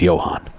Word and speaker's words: Johann: So I did, and the piece ended, and I went, that was Johann Sebastian Bach. And I went, and he comes in and goes, it's Johann.